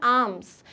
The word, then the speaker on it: alms: Similarly ALMS ये भी जो होता है इसका प्रोनाउंसिएशन होता है आर्म्स।